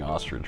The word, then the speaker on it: ostrich: That is some rare looking ostrich. I don't think you're pronouncing ostrich right. How do you say it? Ostrich. You're saying it like r i d g e. It's i h.